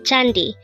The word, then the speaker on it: 잔디: word for today word number 345 is it's chandi which means grass the first word for our